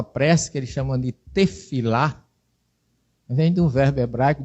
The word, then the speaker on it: tefilá: um radical palel, que o P e o F em hebraico, depende da posição. Ele é P, em outra posição ele é F. Então, tefilá era para se escrever tepilá, que vem de palel, que é o radical, mas se escreve tefilá.